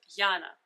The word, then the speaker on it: Yana: so what happened is originally my name was with y and spelled and pronounced yana as in russia but then when they